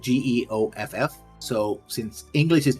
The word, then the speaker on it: Geoff: Because actually, I think one of the players' actual name was Jeff. But it's spelled Geoff.